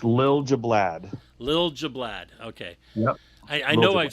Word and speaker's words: Liljeblad: one off right away bad go ahead and pronounce your name again for all the listeners it's lil jablab lil jablaad okay i i know i've said it right